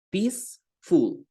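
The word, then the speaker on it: peaceful: Pacífico tranquilo calmado Pacífico decimos pis full o sea ponemos hagan de cuenta que ponen una p una I y una s pis full Le agregaríamos solamente el fut al final Ok y esto quiere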